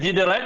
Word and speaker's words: Widerøe: Ben, moi je dis Widerøe, comme les Norvégiens prononcent eux-mêmes.